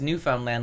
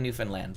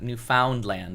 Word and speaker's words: Newfoundland: the planes that landed there but it's you pronounce newfoundland like under understand newfoundland like that's how you pronounce it it's not newfoundland it's i know it turns into meat curtains